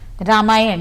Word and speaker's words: रामायण: अच्छा, रामायण यही उच्चारण है ना रामायण का? जी। क्या कुछ आप बता रहे थे अभी कि? जी हाँ, जी। वो रामायण का है रामायण, रमा यानी कि सीता और यण, राम जी के लिए है